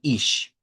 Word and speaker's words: ich: refiera al yo, al ich, ich. Algunas veces en las transliteraciones estas incluso las ponen así. Mire, pronuncie esto como una ISH, así.